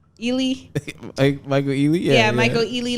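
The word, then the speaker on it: Ealy: Ely.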